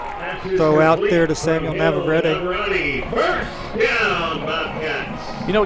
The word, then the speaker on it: Navarrete: after the Shoemaker win, is it Navarrete or Navarrete, just to make sure, because I've heard it pronounced several. It's Navarrete. Navarrete. Finally got it from the source.